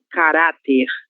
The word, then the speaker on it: caráter: Então, temos aqui caráter, sílaba tônica ra.